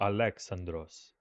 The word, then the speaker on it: Alexandros: They said they they they pronounced it close to Alexandros and Homer would not they did not pronounce Homer as Homer.